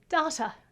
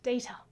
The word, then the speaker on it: data: written on this t-shirt is pronounced data not data just in case any